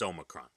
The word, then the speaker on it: Omicron: It's how do you not know it's Omicron?